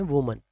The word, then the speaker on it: women: उसको हम कहते हैं वुमन, मतलब plural of वुमन। Both of द वीमेन were Japanese, मतलब दोनों ही औरतें जैपनीज थीं। The right pronunciation is विमेन।